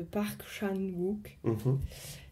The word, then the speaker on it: Park Chan-wook: En fait, un objet qui m'a particulièrement marqué, c'est les boules de geisha du film Mademoiselle de Park Chan-wook, si ça se prononce comme ça.